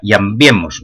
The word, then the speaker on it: llambiemos: Llambiemos, non veáis unha tilde ou un hiato aí, sino que se pronuncia como diptongo.